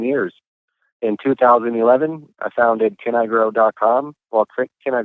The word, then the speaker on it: CannIGrow: audience a little tricky it's CA inning I grow and so it's a little play on words there can I grow right you can with